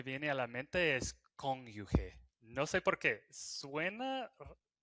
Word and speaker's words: cónyuge: Sabes, fun fact, eh, dato curioso, la mayoría de los latinos pronuncian la palabra cónyuge cónyuge de con cónyuge. Es raro. Eh, tú pronuncias cónyuge, ¿verdad? Aquí con Franco, creo que lo normal pronunciar cónyuge, pero es cónyuge. Okay. Aquí la gente sorprendida, pero sí, mi esposa me lo dijo hace tiempo. Con con con yuge, con yuge, ¿sí?